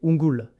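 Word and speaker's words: unggul: Ungul. Ingul étrê prononcé unul.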